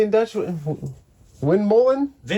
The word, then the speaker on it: windmolen: Windmolen? Windmolen.